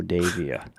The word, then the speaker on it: Davia: This is Davia. Well, there's a Devia, Okay. Yeah, but it's spelled D-I-V. Yeah, D-I-V, Diva. No, Diva. Yeah, D-I-V-A. This is D-A-V-I-A, so it's a Davia.